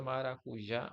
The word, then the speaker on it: maracujá: Mesma coisa, maracujá ou maracujáis, tá vendo? Que é o exemplo do S que ele deu aqui, ó. É a última sílaba ou a sílaba forte é a última. É o já, só que ele pode